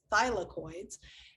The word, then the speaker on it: thylakoid: again if you remember my dyslexia i had always flipped that l and a and it wasn't until one of my students pointed out that i was constantly saying it wrong that now i i'm trying to make a very big effort to do the word right so thylakoids and a thick